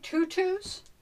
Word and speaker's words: Tutus: box it's a joy tutus joy pronunciation for anything other than tutu so anyway that's what